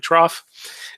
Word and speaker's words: trough: the trough right trough I know it doesn't look like it should be pronounced trough maybe it's maybe it should be it should should be pronounced trough or something but it's actually trough anyway the bottom part